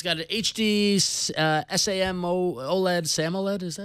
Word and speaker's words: Super AMOLED: It's got an HD SAM OLED, SAMOLED, is that how you say it? Super AMOLED, yeah.